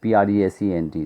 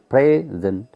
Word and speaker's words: present: In English also you find that if you present, present, if you put the stress on the first syllable, present, then it means that's basically gift.